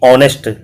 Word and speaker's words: honest: अब आप यहाँ HONEST ऑनेस्ट, अब आप सोचेंगे भी जैसे होली के अंदर ए फिल किया गया है ऐसे यहाँ पर ए फिल किया जाएगा। नो, यहाँ H इज साइलेंट और S साइलेंट के मैं वर्ड आपको बता चुका हूँ।